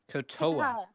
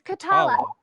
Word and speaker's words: Kotala: remind me again what is your name Natalia katoa it's khatallah okay is that how you spell that okay nevermind that's how it's pronounced khatallah